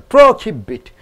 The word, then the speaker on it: prohibit: pretty big pretty bit is a verb so you are stressing on the last I know syllable second syllable prohibit quality question all the